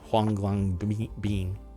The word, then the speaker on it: Huanglongbing: Huanglongbing, or HLB, right? Huanglongbing. Yeah, I'm going to say it. That's how it's pronounced. Huanglongbing.